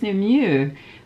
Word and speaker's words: Nimue: She says, it's Nimue, but it's the French U.